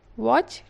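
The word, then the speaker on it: watch: वॉच टीवी।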